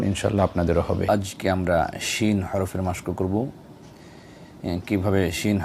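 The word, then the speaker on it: ش: যায় সেটি আমরা দেখব শিনের মাখরাজ হলো জিহ্বার মধ্যখান তার বরাবর উপরে তালুর সঙ্গে লাগিয়া জিম শিন ইয়া এই তিনটি হরফ উচ্চারিত হয় আসুন আমরা প্র্যাকটিক্যাল দেখি শিন উচ্চারণের সময় হালকা করে দাঁতের মাঝখানে ফাঁকা থাকবে এক আঙ্গুলের কম শিন শি শা শি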